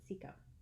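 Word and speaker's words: Cecco: I'm going to pronounce it Cicco. C-E-C-C-O, who cut his name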